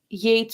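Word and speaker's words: Yeats: this he eats person it's not Yates right it's a different spelling oh no it is this spelling okay so it is Yates and I was just wildly mispronouncing it the whole time yeah y-e-a-t-s I don't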